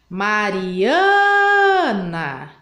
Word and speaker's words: Mariana: Então, eu demorei mais tempo para falar o ã. Então, o ã é a sílaba mais forte do nome da Mariana.